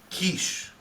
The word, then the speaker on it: Kiss: name your last name my last name is Hungarian do you know how to pronounce it your last name is kiss Kish oh wait wait a